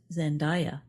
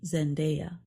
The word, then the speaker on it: Zendaya: The name of the actress Zendaya is often mispronounced as Zendaya, but it should be Zendaya.